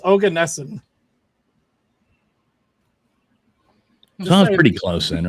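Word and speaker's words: Oganesson: of them all okay so this says it's ogan nessen pretty close then right Google pronunciation no this is from how to pronounce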